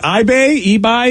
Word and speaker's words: Ibai: And is it eBay? How do we say that from Barcelona, Vicky? Vicky, it's IBAI. Any idea? EB. All right. Because I is said like E.